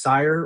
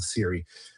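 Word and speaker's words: Cyre: Uh, and in case you're listening and you think it's sire or Syrian or Sarani or whatever, I use Keith Baker's pronunciation. It is in fact called Siri.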